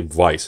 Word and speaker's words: Weiss: same thing with the most people in america pronounced at Weiss Schwarz but it's actually vice it's more of law because it's German so